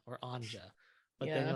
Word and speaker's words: Anja: I was like, oh, Anja or Anja. But then you're like, my name is Anza.